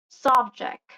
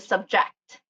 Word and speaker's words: subject: So on the noun part, you will see that the acute accent on nouns are stressed or marked the first syllable, like pervert, subject. And with the verb, the stressed syllable is on the second syllable, or yeah, in the second syllable, which is like for birth and subject.